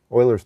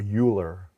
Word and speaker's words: Euler: Was it Euler or Euler? Like Euler, like someone who wields an oil can? Or is it Euler? So I think, you know, since then I've learned it's pronounced Euler.